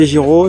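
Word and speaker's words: Giraud: À B Giro, ça s'écrit G I R A U D.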